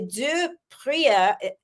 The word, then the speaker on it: Du Preez: The zed at the end, even though it's spelled with a zed, it's not pronounced with a zed.